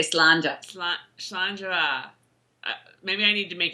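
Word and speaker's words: Slàinte mhath: No, it's Slanjava. We know it now. I don't throw the va in there. I just say Slanja. Slanjava.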